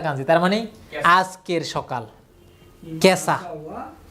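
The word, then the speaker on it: 今朝: তারপরে এটা হচ্ছে যে আজ, এখনকার কাঞ্জি ইমা, এরপরে এটা হচ্ছে আসার কাঞ্জি, তার মানে আজকের সকাল, কেসা। ইমা আসা না, এটা পুরো একসাথে দুইটা হবে কি কেসা।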